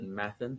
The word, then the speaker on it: Mathen: Mathen, I've always said Mathen, he says Mathen.